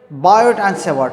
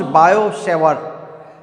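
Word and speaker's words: Biot–Savart: दिया वो किसने दिया, बायोट एंड सेवर्ट ने। बायो-सवार्ट, इट is pronounced बायो-सवार्ट। सो टी एंड टी दोनों इज साइलेंट है यहाँ पर, बायो-सवार्ट लॉ।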